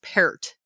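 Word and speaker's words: Peart: it, but it's pronounced parrot. Like the fruit. Yeah, like the fruit because it is P E A R.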